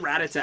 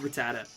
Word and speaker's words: Rattata: I always called it Ratata as a kid, but I I'm pretty sure it's actually pronounced Rattata. Um, Moose, thank you for the sub.